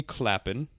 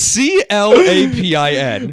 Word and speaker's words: Clapin: So it was directed by Jeremy Clapin. Listen, I don't know how to pronounce it, but I don't think that's how you pronounce it. It's Clapin.